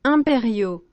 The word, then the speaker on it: impériaux: Les restaurateurs versus impériaux. What? How do you spell it? Impériaux. Impériaux. Impérial. Impériaux. Impériaux. Impériaux. Imperio. Impériaux. It sounds almost like I'll bury you.